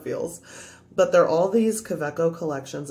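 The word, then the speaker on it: Kaweco: but they're all these quebeco collections it's a german brand so the w is pronounced with a v but basically one has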